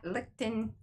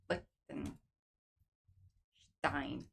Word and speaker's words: Lichtenstein: And the dots come from the Pop Dot Lichtenstein. Lichtenstein. I'm just sure it's Stein because you pronounce the I, not the E. It's not Lichtenstein.